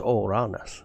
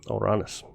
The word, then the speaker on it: Uranus: Um, Uranus is pronounced Oranus. Yep. Oranis.